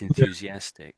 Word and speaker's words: enthusiastic: middle of the word what most people do is they just touch their tongue at the back of their teeth.